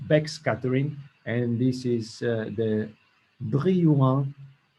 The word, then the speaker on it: Brillouin: Now we face two conditions of backscattering, and this is the Brillouin, is a French name, Brillouin. Scattering, you can say, pronounce it in the French way.